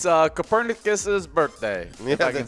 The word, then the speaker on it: Copernicus: Oh yeah, well, it's Copernicus's birthday.